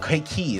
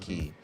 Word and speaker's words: Quay: Kwai. Oh. Key. It's pronounced Key.